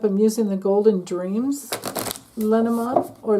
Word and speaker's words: Lenormand: I'm using the Golden Dreams Lenormand, or Lenormand, if you want to pronounce it that way.